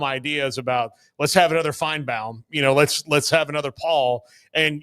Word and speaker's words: Feinbaum: And by the way, that's how it's actually pronounced, but I think he's been Southernized. Feinbaum.